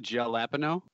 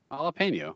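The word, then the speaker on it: jalapeño: said jalapeno around - it's not gel lappa no see how say the way you'd normally say it jalapeno what maybe that's right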